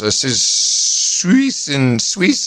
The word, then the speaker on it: Suisun: And then just coming up in September, we've got the 12th, Niagara Falls, Midland, Texas, Agoura Hills, Suisun City, California. How do I pronounce that? Suisun.